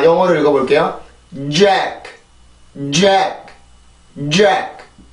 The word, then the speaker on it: Jack: 자, 사람 이름 중에 이런 발음이 있어요. 그죠? 근데 우리나라 말로 이거를 잭이라고 씁니다. 자, 영어를 읽어볼게요. Jack, Jack, Jack, 잭, 잭, 잭.